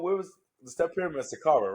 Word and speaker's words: Saqqara: Saqqara, right? That's how you say it. I think it's in Saqqara in Egypt, in Cairo. The step Sakara?